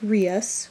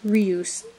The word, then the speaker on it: Rius: There's Rius. Now, it looks like Rius, or you think it's like Surus, Rus. It's actually pronounced Rius.